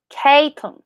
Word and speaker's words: Caitlin: sound é no A, então aqui é a sílaba tônica. E a gente tem aqui Caitlin, né?